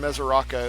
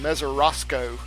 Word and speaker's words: Mesoraco: But like if you watch the Reds and the Yankees last night, the Yankees announcers could not pronounce Devin Mesoraco. They called him Mesorasco.